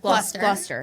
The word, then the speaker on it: Gloucester: This was in like Gloucester. Gloucester. Yeah. But it's spelled Gloucester.